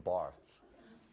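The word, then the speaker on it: Barthes: Barth. The S is silent.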